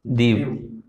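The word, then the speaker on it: Diu: वाला ये क्या है दीव ठीक है दीव बोलते हैं डीयू डी य डी आई यू इसकी स्पेलिंग है और यहां तक गुजरात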